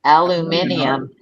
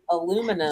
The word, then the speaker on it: aluminium: Yeah, you're adding an extra syllable. Aluminium.